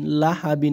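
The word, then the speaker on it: لهب: লাম জবর লাহা জবরহা বা দুই জের বিন লাহাবিন আছে ওয়াক্কফের কারণে কি হয়ে যাবে এ বার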